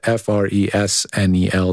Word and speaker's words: Fresnel: It's spelled F-R-E-S-N-E-L. The S is silent.